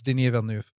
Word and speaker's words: Denis Villeneuve: Yeah, it's Denis Villeneuve.